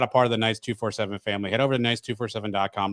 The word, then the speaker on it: Knights 247: Is it Knights 24/7 or 247, or are both acceptable? I didn't want to do this on air, but while we're here, you are actually mispronouncing the website. No, that's fine. That's why I'm asking. You call it Latavius Murray's Knights 247. It's Knights 247 with Latavius Murray.